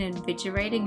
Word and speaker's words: invigorating: The G in invigorating is actually a G sound, not a J sound from vigor.